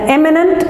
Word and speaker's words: eminent: So the accent is on the first letter or the first syllable, imminent, right? And eminent and prominent.